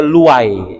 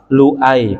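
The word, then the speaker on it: لؤي: tergesa-gesa jadi lu i-itu lebih banyak dibaca pakai Hamzah jangan dibaca Luwe gitu ya yang benar bacanya adalah Lui pakai Hamzah walaupun pakai white juga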